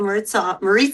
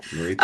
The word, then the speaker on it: Maritza: Last week, Lawrence, when we had Maritza on, rhymes with pizza. Maritza rhymes with pizza.